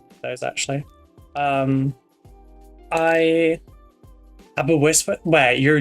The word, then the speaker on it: Aberystwyth: Aberystwyth?